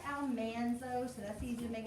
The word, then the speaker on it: Almanzo: married a farmer named um it looks like almanzo so that's easy to make it easy to spell if you just remember al and man and zoe but it's pronounced on monzo and that's where she gets her name laura